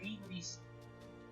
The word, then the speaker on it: hybris: Es una palabreja que se escribe con las letras Y, beta, iota y sigma. Ya traducido al español sería ibris.